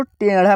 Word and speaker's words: टेढ़ा: यहाँ जो है दोस्तों इसको हम लोग तेदा पढ़ेंगे, इसको टेढ़ा पढ़ेंगे। तो कौन सा हिंदी शब्द सही होगा अब मैं आपको बता रहा हूँ दोस्तों। तेदा जो शब्द है आपको पढ़ने में ही उच्चारण इसका हो रहा है ना तो गलत हो रहा है। उच्चारण में ही पता लग जा रहा है कि हाँ ये शब्द सही नहीं है हमारा, यह शब्द जो है हमारा गलत है।